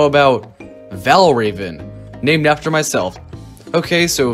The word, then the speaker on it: Valravn: raven no no no it's pronounced like raven but spell without the e why here is an